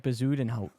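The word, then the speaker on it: Bezuidenhout: his last name Christian bazen H it's like bazen H okay thank you for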